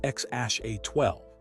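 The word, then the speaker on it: X Æ A-12: It's pronounced X Ash A12, Clare explained in an interview later, though even she and Elon sometimes pronounced it differently.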